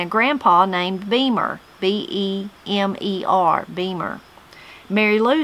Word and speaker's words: Beamer: Tammy says, I had a granny named Ocie, O-C-I-E, O-C, and a grandpa named Beamer, B-E-M-E-R, Beamer.